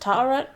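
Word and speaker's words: Taweret: It Ta'aret? was, I believe her name is pronounced Ta'aret.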